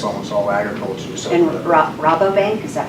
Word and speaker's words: Rabobank: So And Rabobank, is that how you say it?